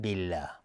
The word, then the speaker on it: بالله: لا قوة الا بالله، اینجا دقت کنید، بالله قبل از لفظ جلاله کسره اومده. لفظ جلاله ترقیق میشه، نازک تلفظ میشه. میگیم بالله بالله، نمیگیم بالله بالله.